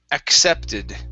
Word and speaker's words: accepted: with this word here there are two sounds we're going to use at the very beginning it is ack okay then the second c is okay so this is accepted accepted good one more